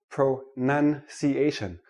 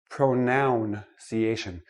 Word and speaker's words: pronunciation: Let me start with this word, pronunciation, not pronunciation. It is not a pronoun. A pronoun is I, me, my, mine. Pronunciation is how we speak English.